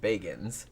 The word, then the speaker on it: Bagans: of his name but when he said it himself in the documentary he said Bagans so I'm guessing that that's how he pronounces it although like I said